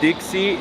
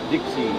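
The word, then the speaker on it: 的士: Taxis pronounced Dixie in Cantonese. Wait, really? Dixie.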